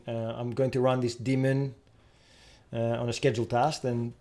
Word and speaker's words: daemon: web redirect here because demons yes i mean they're pronounced exactly the same so unless i was saying i'm going to run this daemon on a scheduled task